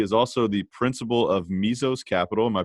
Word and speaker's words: Mesos: personal finance he is also the principal of mezzos capital am i pronouncing that correctly yeah yeah excellent pancham has